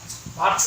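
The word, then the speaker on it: virtue: মনে রাখবা, টি এর পরে যদি কখনো ইউ দেখো, টি এর উচ্চারণটা চ এর মতো করে দেবে। ভার্চু অর্থ তোমরা জানো গুণ।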